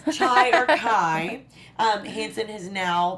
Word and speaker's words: Chai: And another incredible announcement is that Shadowhunters just introduced a new cast member, Chai Hansen. Yes. I'm saying it right. It's not Shy, it's Chai, right?